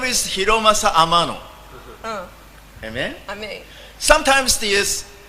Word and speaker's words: Hiromasa: My name is Hiromasa Amano. Amen? Amém. Sometimes this 日本語だ。Sorry. Sorry. Sometimes the English speaking people called me Hiroshima. Because my name is Hiromasa. They cannot pronounce it. So sometimes Hiromasa no Hiroshima.